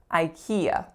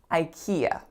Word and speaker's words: IKEA: a three syllable word the first sound is I the second one is key and the third one is yeah IKEA IKEA which is the strongest syllable the second IKEA next up we have